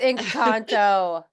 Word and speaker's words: Encanto: No, it's Encanto.